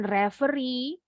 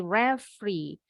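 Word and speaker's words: referee: untuk mengakhiri pertandingan Bukan reveri tapi refri jadi huruf e yang ditengani hilang sama dengan kalian pengucapan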